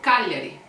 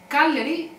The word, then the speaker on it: Cagliari: When G is followed by L, we never pronounce the G. It just makes the L sound softer. For example, Cagliari. Cagliari is the main city of Sardinia. Cagliari.